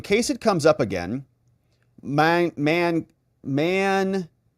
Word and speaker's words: Mankato: Tony DeMarco says, in case it comes up again, Mankato. Pan, second part rhymes with NATO.